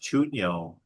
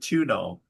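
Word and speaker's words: chuño: I like the way she pronounced chuno. Chuno. Yeah. She pronounced it tuno.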